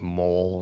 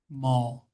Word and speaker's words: Mol: Like M like mole or something. Mall. Like a shopping mall.